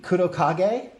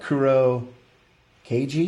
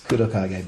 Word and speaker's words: Kurokage: Mitsubishi Kurokage shaft, that is how you pronounce it. I don't know if we probably say what? Kuro Cage? I don't know how we'd say it as Americans, but it's Kurokage.